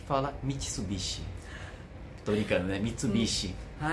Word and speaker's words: Mitsubishi: pessoas falam Mitsubish então português tem a tendência de falar mais alto a penúltima sílaba ah certo Entendi então